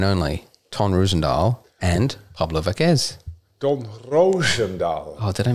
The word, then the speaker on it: Vazquez: did I get yours or is it vacas Vasquez Vasquez all right so we're off to a good start it's pronounced both names Andrew P Price where's the